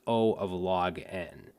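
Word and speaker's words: O(log n): this o and then log n this is pronounced o of log n all right and then there's others as well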